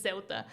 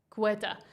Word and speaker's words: Ceuta: It is Ceuta. And there's not a Portuguese way. It's just the people that say, what do they say? Ceuta, I think, or Cueta.